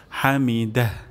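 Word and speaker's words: حَمِدَهُ: হুলিমান সামি আল্লাহ হুলিমান হামিদাহ হামিদাহ এখানে আমাদের হা হয়ে যেতে পারে হামিদা তাহলে এখানে আমরা হা উচ্চারণ করব গলার মাঝখান থেকে হামিদাহ হামিদাহ এবং শেষেও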